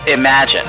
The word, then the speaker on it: Imagen: Imagen. Okay, so that's the pronunciation.